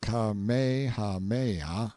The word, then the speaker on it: Kamehameha: When Kamehameha, pronounced Kamehameha, the Great, who was a sort of a